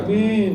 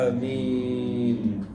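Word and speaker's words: آمين: Amin itu artinya istajib, dan bacanya panjang, Pak. Jangan amin. Nah, itu salah. Yang betul adalah amin.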